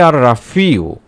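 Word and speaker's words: الرافع: উচ্চারণটি হবে আর রাফিউ যার অর্থই হলো মুমিনদের মুয়াজ্জাদা উঁচুকারী।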